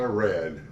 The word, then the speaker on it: Rad: name but I go by Rad rhymes with h bad and should I call